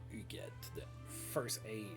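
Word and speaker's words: Hughette: know they pronounce it you at but that's a french name and it is pronounced you get the first a well both h's are silent rowland substitutes in battle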